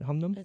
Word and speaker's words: Hunnam: Humnam? I think it's Hunnam? Hunnam? Humnan? Humnan? It's Hunnam.